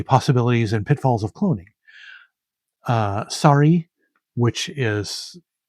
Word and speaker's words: Sari: Sorry, which is, she uses it as the English word sorry, but as you can see, it is pronounced, or is spelled Sari.